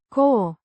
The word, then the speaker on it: cu: A preposition meaning with pronounced core similar to the English co o sound.